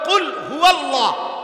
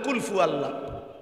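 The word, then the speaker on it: قل هو الله: কি বললেন শব্দ তো হলো কুলহু আল্লাহ আপনি তো বলেন কুলফু আল্লাহ কুলহু আল্লাহ তো যেটা যেভাবে উচ্চারণ করার কথা ওইভাবে উচ্চারণ করতে হবে নয়তো এটা ঘাটতি রুকু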